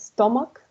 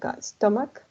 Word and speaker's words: stomach: head number five is stomach yeah here is gonna sound like a k right you can finish stomach number six you have